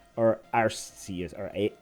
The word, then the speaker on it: Arceus: ruling on is it arceus or arses or a x but how do healthy i think it's pronounced arceus based on our anime i think that's what